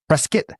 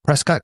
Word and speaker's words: Prescott: in a Saturday in a place called Preskitt. It's spelled Prescott, but they call it Preskitt and they get mad if you call it Prescott, kind of like how